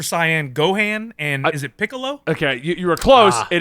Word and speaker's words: Piccolo: Ball Super, Super Saiyan Gohan, and is it Piccolo? Okay, you were close. It is Piccolo.